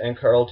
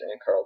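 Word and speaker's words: Annakarl: Alternatively, you can use, I believe it's pronounced Ankarl teleport, which will bring you, let me just open the world map real quick.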